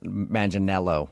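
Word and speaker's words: Manganiello: turn down someone who looks exactly like Joe Maninelo. Uh, how how do you know that? Uh, because we talked to him and he told us that a lot of people say he looks like Joe Manel. Maninelo, right?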